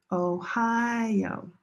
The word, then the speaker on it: Ohio: For example, this word, the states, Ohio. Ohio. Ohio. Three syllables but only four letters.